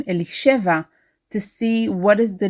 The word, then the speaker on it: Elisheva: like native Hebrew speakers we stress the second from last syllable elisheva it is not e Li cheva it is not Eli